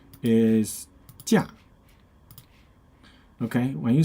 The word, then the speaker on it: 假: Okay, and another meaning of this character with a different pronunciation is 假. Okay, when you say 假, that means holiday, vacation.